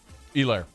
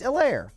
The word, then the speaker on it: Edwards-Helaire: It's a long E, and the emphasis on the E, not the lair.